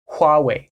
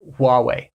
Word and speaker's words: Huawei: are saying it but in Mandarin the best way that I can explain to say it would be H H way huwei huwei so anything else you're getting farther and farther from the actual pronunciation so in English in America if you want to be simple you might just say Huawei Huawei Huawei Huawei so that wraps